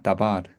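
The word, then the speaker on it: דָּבָר: 원래는 이제 원래는 다바른데 다바른데 이게 이제 연계 상태가 되니까 어 어떻게 되겠습니까? 드바르 아도나이 이렇게 되겠죠. 그러니까 그냥 말씀하면 다바르 강세가 있습니다. 다바르 근데 연계 상태가 되면 강세가 여기만 있어요.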